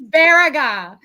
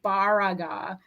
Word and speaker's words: Baraga: It's Baraga. And it's Baraga. on Noggin. See, that's how you know I am not native to the UP. I said the name wrong.